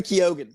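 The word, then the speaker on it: Keoghan: for me CU I always it wrong Barry kogan thank you that's how he pronounces it other Irish people pronounce it Keon but it's kogen from his mouth Barry kogan's Joker rumored for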